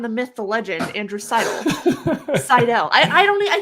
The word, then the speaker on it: Seidel: got it right here's here's for people who are wondering how you say my name there you Sidle up to the bar